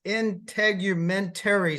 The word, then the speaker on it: integumentary: I pronounced that wrong, didn't I? It's integumentary system. That's correct.